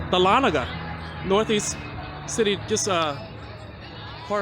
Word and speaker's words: Dahlonega: for a long time I thought this was pronounced doll naga but my aunt who lives here told me is correctly pronounced Dahlonega northeast city just a